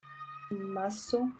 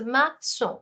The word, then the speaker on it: maçon: So see, the thing is that this CA, there's no accent here. So you will pronounce it as ka. Okay, whereas when in this you put this accent below it, it becomes a sa.